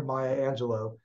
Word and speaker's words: Maya Angelou: We must listen to the wisdom of Mother Maya Angelou, and that is how it's pronounced, when she said, courage is the most